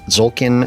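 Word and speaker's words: Tzolk'in: it out loud but zolkin I want to say I don't think you pronounced the T it's zulkin the Mayan calendar this is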